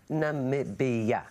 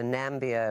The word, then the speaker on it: Namibia: you share with the world how exactly you pronounce Namibia Namibia now I won't say this was big news